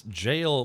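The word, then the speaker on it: gaol: It's jail, but it's spelled G A O L.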